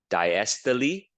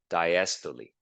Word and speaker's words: diastole: We call that diastole. So that's how you pronounce it. Systole and diastole.